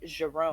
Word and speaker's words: Jerome: Plus, in French, all the J's are pronounced as je, so it'd be Jerome.